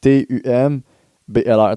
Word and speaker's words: Tumblr: En gros, je sais même pas comment prononcer cette petite application, là, mais c'est Tom Beeler. Yeah, man, je sais pas comment on appelle ça, mais c'est T-U-M-B-L-R. T'as dit quoi? Juste Tom B-L-R. How to pronounce. Bro, je vais aller sur Google, ils vont me le dire. Attends, écoute ça. Attends. Je vais écouter ça. Tumblr.